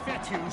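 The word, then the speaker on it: Fetu: down hawks so coach fetthy spelled f-e-t-u for the longest time i was pronouncing it coach feta like feta cheese so let's just say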